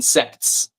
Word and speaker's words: sects: I pronounce the T in sects.